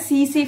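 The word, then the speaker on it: tsetse: इसका कौन होता है सीसी फ्लाई जिसको हम बोलते हैं यहां पे टी साइलेंट होता है सी सी फ्लाई ठीक है इसकी कैरियर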